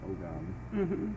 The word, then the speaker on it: Ogam: it comes to the Ogam or the Om, whichever way you want to pronounce it, doesn't matter. There are many ways. I say Om because that's the way that the one book called it, and I'm just going to go with it.